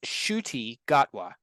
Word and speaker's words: Ncuti Gatwa: think he's Scottish randan actor uh it's it's pronounced shoy gatwa so and he is our official 15th uh